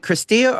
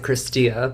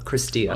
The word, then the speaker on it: Cristea: It's we pronounce it Cristia, but there's people who pronounce it Cristi, Cristea, many different versions of how you can pronounce the name, but in Romanian we pronounce it Cristia, so Cristia.